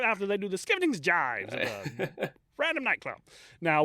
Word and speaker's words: Gyves: it, Skevington's Gyves, and I'm told that it's pronounced Gyves, Gyves, but I'm told it's pronounced Gyves, to the Scavenger's daughter.